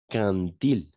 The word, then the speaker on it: quand il: les bateaux au niveau alors attention ici c'est un peu bizarre ce que je veux te dire mais ici on va faire une sorte de liaison d'accord on va imaginer qui est le D et un T d'accord et on va dire quand il oui c'est un peu